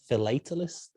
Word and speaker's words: philatelist: Philatelist?